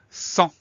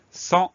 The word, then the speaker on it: sans: Alors le son en A-N. La lettre muette, je ne connais pas de mots qui permettent de la retrouver. On a un S muet à la fin.